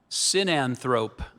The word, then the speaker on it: sinanthrope: Sinanthrope.